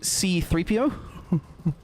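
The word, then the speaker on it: C-3PO: Because I'm pretty sure if I remember, C3PO in the original movie, C3PO puts the emphasis on the C, pronouncing it C3PO.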